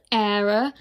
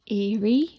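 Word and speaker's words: Éire: from the briar store on sunday night was error era is irish for ireland if you didn't know i've heard a lot of people say eerie and there are people out there who can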